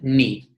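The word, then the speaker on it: νι: In Greek, we call that ni, and we pronounce it n.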